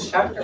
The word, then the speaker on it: Schachter: Okay, is it Schachter or Schlachter? I feel like it's Schrachter. Schlachter. You say Schlachter, but it's spelled Schachter.